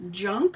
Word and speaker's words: Junque: So, I have this Photo Play Christmas Junk, I think it's called, but it's spelled Junque, from Photo Play.